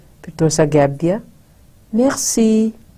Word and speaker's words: Merci: Merci. Merci. Two syllables.